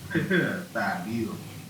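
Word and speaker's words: Thybulle: Thibault.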